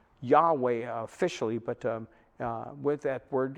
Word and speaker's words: Yahweh: and that's why it's seen as yhwh we pronounce it yahweh yahweh officially but with that word is translated jehovah